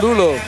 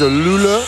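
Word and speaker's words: Luleå: Il était un lux ou luléa prononciation à la française. Loule. Les soédois disent Louleux.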